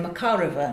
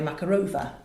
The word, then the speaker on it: Makarova: penultimate syllable that stressed so it's not Anna Pavlova is Anna Pavlova the ballerina it's Natalia Makarova not Natalia Makarova but so so in